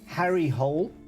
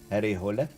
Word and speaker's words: Harry Hole: Um, and it is about a detective called Harry Hull, probably pronounced Harry Hole.